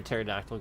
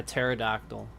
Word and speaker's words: pterodactyl: Why can't you hear a pterodactyl going to the bathroom? Because they're extinct. No. Why can't you hear a pterodactyl going to the bathroom? Going to the bathroom? Because the P is silent.